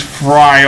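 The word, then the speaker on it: Frei: other thing so let's use fry on him yes i'm pronouncing it the german way and then zeo and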